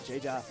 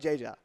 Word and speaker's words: Jeja: Much like Jeja. That's right. Very jovial guy. His name's very fitting. Pronounce it in Spanish as ha ha ha.